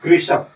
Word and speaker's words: कृषक: अब देखिएगा जब इसका हम उच्चारण करते हैं कृषक तो क के साथ में आता है ऋ। अभी कौन सा वाला र है? है ना? तो ये है ऋषि का ऋ।